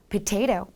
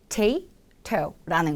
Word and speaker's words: potato: 우리나라 말로는 potato이지만 영어로는 potato, potato 이렇게 발음을 하죠. 그리고 실제로 이건 세 개의 음절이라고 명명합니다. potato라는 거죠.